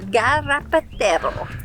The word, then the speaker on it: Garrapatero: We're on our way to Playa El Garrapatero. Good pronunciation, you nailed it.